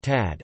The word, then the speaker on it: Tchad: Chad, listen, Arabic, Shad to Shad, French, Chad pronounced Tad, officially the Republic of Chad, Arabic, Jamrit Shad Jumhuriyat Shad, French, République du Chad lit.